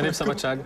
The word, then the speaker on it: Népszabadság: Alors vous avez fait fort ici au Népszabadság, je l'ai bien prononcé? Oui, tout à fait, c'est Népszabadság.